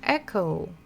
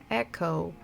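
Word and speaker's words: эхо: last one is all in English echo echo not exactly the same I know but very similar because again not so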